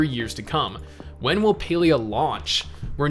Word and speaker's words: Palia: and they confirmed that this is actually pronounced palea on their twitter so i guess since